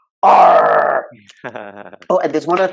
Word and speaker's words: ARRR: And the ticker symbol for Pirate is ARRR, which is pronounced R.